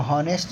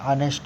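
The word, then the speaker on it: honest: जैसे ऑनेस्ट, इसको हॉनेस्ट नहीं पढ़ते, ईमानदार, इसको हॉनेस्ट नहीं पढ़ते, इसको क्या पढ़ते हैं, ऑनेस्ट, इसीलिए इसके सामने में एन लगता है।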